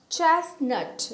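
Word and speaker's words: chestnut: उसके बाद है चेस्टनट, यहाँ पे भी टी साइलेंट होता है।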